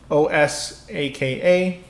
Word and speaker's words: Osaka: three right so osaka right so o s aka three syllables osaka in japanese osaka oh saka right four own right then